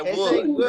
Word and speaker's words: would: I would, right?